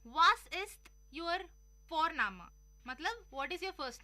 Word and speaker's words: Vorname: और हम यहाँ पे फॉरनामा प्रोनाउंस करते हैं बट लिखते हैं उसको VORNAME। ओके, तो वो हम इंग्लिश के अनुसार प्रोनाउंस करेंगे तो वो बनेगा वॉरनेम, बट नो, इट्स फॉरनामा।